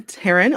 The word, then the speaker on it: Tearyne: Uh welcome to the show Taran. Uh tell us about yourself. Hi Chris, thanks for having me. So yes, I'm Taran. It is pronounced like Karen with a T.